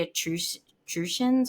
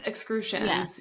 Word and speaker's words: Etruscan: about, wasn't it the Etruscans or something? Yes, excrucians. Yeah. And it felt, I don't know how to pronounce that. It felt, I think it's excrucian. I think that's what it is. It's Etruscan.